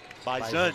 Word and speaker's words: Bison: And partner, they pronounce it with a Z, even though there's no Z in Bison. Bison is how it is said in North Dakota.